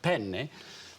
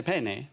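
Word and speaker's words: penne: pen they pasta you in italian it's very important that you pronounce a double consonant there are two ends in the word so you say it how do you say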